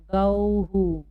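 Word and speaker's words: गौः: हम आउ बोल रहे हैं तो आउ ऊ आ रहा है, इसलिए यहाँ पर जब भी आउ की मात्रा के बाद विसर्ग होगा तो हमें हु उच्चारण करना होगा। गौहु।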